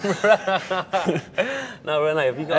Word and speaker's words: Rene: Rene, is that the correct pronunciation?